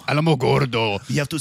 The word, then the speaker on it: Alamogordo: most so cal way you could have ever pronounced that what do you want me to say alamogordo alamogordo you have to say it like you're about